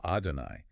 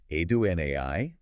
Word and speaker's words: Adonai: Sounds like Adonai, Shema. Adonai, Yeah. slash. It is a breathless, rhythmic pounding. Jewish tradition often vocalizes that divine name with a heavy stress on that final syllable.